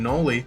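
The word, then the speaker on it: Knoli: I'm Noli, the K is silent, and this is SCP Weekly.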